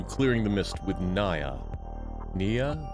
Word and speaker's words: Neyyah: Nia. Nia. That was the pronunciation that we learned last time.